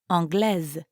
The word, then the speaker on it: anglaise: So an Englishman would use anglais, but an English woman would say anglaise. Je suis anglaise. Anglaise. Notice how you do pronounce the S in that case.